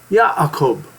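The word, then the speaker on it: Ya'akov: what is your name and he said yob that's the proper way to pronounce it and he said the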